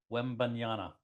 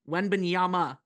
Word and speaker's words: Wembanyama: Wembanyama. No, it's Ama at the end. Wembanyama.